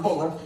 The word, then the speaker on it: Butler: I wasn't about to tell him it's pronounced Buller.